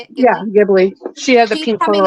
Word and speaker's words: Ghibli: Yeah, Ghibli.